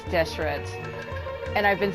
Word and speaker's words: Deshret: I am impressed that I've been saying it right the entire time, because it does look like it's Deshret.